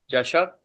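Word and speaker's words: चषकः: चषक। अब च श क ह, उच्चारण में शुद्धता चाहिए। जो भी अक्षर हैं उनका पूरा पूरा उच्चारण करते हैं, आधा उच्चारण नहीं होता।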